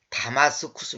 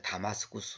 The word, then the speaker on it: 다마스쿠스: 이건 정확 한 발음 이 아닙니다 . 여기는 다마스쿠스 입니다 . 다마스쿠스 .